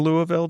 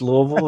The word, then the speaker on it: Louisville: It's Louisville, and it's actually probably supposed to be pronounced Louisville because we're named after King Louis from France. But okay, Louisville is the way it is.